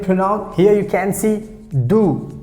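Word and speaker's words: du: here you can see do d you how we pronounce do do do that means you so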